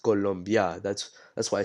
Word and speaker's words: Colombia: So it's not Colombia, it's pronounced Colombia. That's why I say it like that, because that's how you're supposed to say it. You say it with an O instead of a U, and you end up